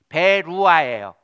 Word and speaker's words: 베루아: 저기 배상민 형제의 딸이 있는데 딸 이름이 베루아예요. 르아흐에서 온 르아, 베루아. 후는 그냥 묵음으로 베루아흐.